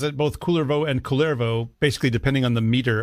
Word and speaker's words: Kullervo: The Kullervo story is found in, but I've read that apparently in Finnish it is Kullervo. With the stress on the first syllable.